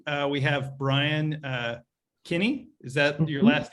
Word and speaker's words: Kinney: and um today uh we have brian uh kinney is that your last name i pronounced it right yes uh brian is a